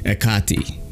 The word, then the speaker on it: Hecate: is it it's the I looked up the pronunciation for this and I think the cool way to say it is the okati all right it's like a